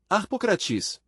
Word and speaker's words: Harpócrates: Harpócrates. Nome grego extraordinário, maravilhoso. Os místicos dos mistérios de Eleusis pronunciavam aquele nome na seguinte forma, Harpocratis.